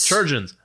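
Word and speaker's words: chirurgeons: you a real quick question how do we pronounce that word it looks like kyogen's or cure surgeons surgeons there we go all right so the departmento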